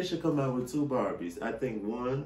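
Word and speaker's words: Barbey: I think they should come out with two Barbies. I think one should be called Barbie, but we're gonna spell it B-A-R-B-E-Y, like get it, bar and then B.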